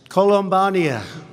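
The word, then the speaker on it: Columbiana: I especially want to thank, this is such a beautiful place, Columbania. Okay, that's the way you really pronounce it.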